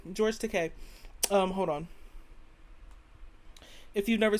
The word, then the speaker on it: Takei: I love Wikipedia because it's gonna tell me how it's pronounced. Takei, George Takei.